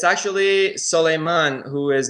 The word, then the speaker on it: Solimon: It's actually Solimon, who is not.